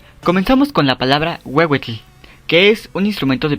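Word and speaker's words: huehuetl: Esta se pronuncia como una W. Pero cuando la H está después una vocal, su pronunciación será más como una J. Ejemplos. Ejemplos. Comenzamos con la palabra wewetle, que es un instrumento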